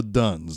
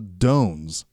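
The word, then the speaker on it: Dunn: The cast clearly lists them, as I pronounce it, the Duns, D-U-N-N-S. D-U-N-N is their last name. I think Harry or something is the guy's name. But they keep calling them the Dones, as if it's spelled D-O-A-N. Is there a regional West Coast accent that changes Dun to Doan?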